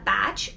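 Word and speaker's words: Bach: Bethlehem and this is a batch or Bo flower remedy depending on how you say it the Star of Bethlehem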